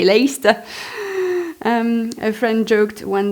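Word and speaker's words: Leicester: Why do they spell a word with so many letters only to pronounce half of them?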